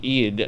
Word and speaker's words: Eid: I don't know how to say it, but Eid. Oh, right, you know, EID, it's like right, Eid. it's a Muslim holiday. Eid Mubarak. yeah, what? I'd more about it. I think it's Eid Mubarak.